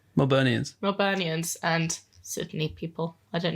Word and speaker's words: Melburnians: How do you say it? Melbournians? Melburnians and Sydney people.